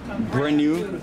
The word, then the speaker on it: Brenu: Brenu Beach, and that's pronounced and spelled B-R-E-N-N-U. Brenu.